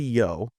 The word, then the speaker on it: Io: Prometheus is talking to Yo or IO some pronounce it as IO I'll say IO and um he tells